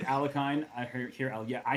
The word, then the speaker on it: Alekhine: able to yeah but apparently even that's like not like the way most russians grew up hearing his name is not actually the way he liked his name pronounced so he did like a hard k is what i've seen